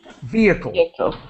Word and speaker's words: vehicle: let me help you the H is silent we do not pronounce it in this word so vcle vehicle yeah yeah Renault is